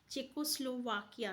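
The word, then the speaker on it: Czechoslovakia: तो याद रखिएगा चेकोस्लोवाकिया, ठीक है, ये इसका करेक्ट प्रोनाउंसिएशन है।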